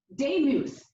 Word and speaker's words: Demuth: Next up to bat is Representative Lisa Demuth, and I know how to pronounce her name because she's corrected me several times. Right, Lisa? 2 minutes. It's like Joe Namath. That's how I remember.